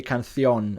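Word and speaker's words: canción: got cancer as well in Spanish you say cancion so you would pronounce the N at the end and that's a way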